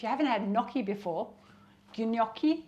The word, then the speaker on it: gnocchi: haven't had gnocchi before ginoki that's how it's pronounced it's some pasta made